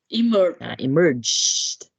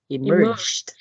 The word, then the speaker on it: emerged: how about this one emerged emerged yes so the stress is in the second syllable emerged next how about